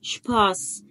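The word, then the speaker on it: Spaß: شباس، شايف اس ست اهو، فانا نطقتها صوت السين.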